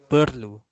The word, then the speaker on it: perlu: Formal pronunciation. Perlu. Perlu. Perlu. Besar. Lapar. But in spoken Malay, we make it silent. We don't pronounce the R. We say perlu, besar, lapar.